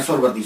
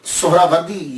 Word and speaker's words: سہروردی: بڑی توجہ دینی ہے۔ ہم لوگ اکثر بول دیتے ہیں سہروردی، سہروردی، یہ اکثر ہم بولتے رہتے ہیں۔ میں غلط نہیں کہتا، لیکن ذہن میں یہ تو ہونا چاہیے نا کہ اصل پروننسیشن، اصل تلفظ کیا ہے۔ اصل میں یہ سہراوردی یا تو نسبتی ہے، تو لفظ جو ہے وہ سہراورد ہے، سہراورد، سین کے اوپر پیش، پہلی ہا، یہ ہا ساکن، را